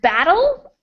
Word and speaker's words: battle: I'm going to show you my mouth. You can Okay. see from my mouth as I say it that they're not the same. So we have battle and bottle. Battle, bottle. Bottle. So the vowel sound is what changes. The TL part stays the same, but the vowel sounds